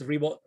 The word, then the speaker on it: Ribo: Last name is Ribo, spelled like R-I-B as in boy, O.